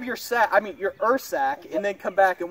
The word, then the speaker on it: Ursack: is break it down awesome yeah it is pronounced earth sack but I've heard it called your sack a lot is spelled urs ACK if the